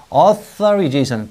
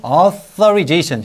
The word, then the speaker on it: authorization: 그래서 여기도 wi authorization th 혀를 물듯이 혀를 authorization 꼭 놀리는 거 같잖아 이렇게 authorization 물듯이 그 서면 허가를 우리는